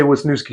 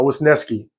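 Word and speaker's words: Wisniewski: Uh that's the pronunciation guide. I want to say Wasnooki so bad. But, uh, was Neski is how they say you pronounce it.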